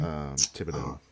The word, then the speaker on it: Thibodeau: Theobald, right? No, how you say his last name? Thibodeau.